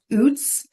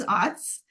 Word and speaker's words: OWTS: The acronym OWTS is even pronounced in different ways. It's OWTS, OOTS, OUTS, OATS. I've heard lots. I pronounce it as OWTS.